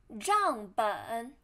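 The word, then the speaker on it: 账本: And then ledger 账本账本账本账 first tone 本 third tone 账本账本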